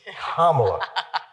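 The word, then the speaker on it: Kamala: come in and yeah everybody knows how to pronounce her name right it's kamla it's not that hard folks it's KLA I'm a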